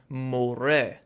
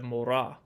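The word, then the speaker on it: מורה: the word Torah, and it would actually be pronounced moreh instead of morah.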